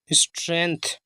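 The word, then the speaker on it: strength: जी silent होगा, टी एच से था। स्ट्रेंथ ऑफ यूनिटी, देखिए यू से बड़ा यू, एन आई नाम है छुट्टी की, और टी वाई से टामड़ी की।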